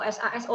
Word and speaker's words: Saso: Mungkin Mas Andi, ini dulu sebelum masuk ke desain Mas Andi yang rumah genteng, boleh intro sedikit Saso atau SASO nih bacanya nih.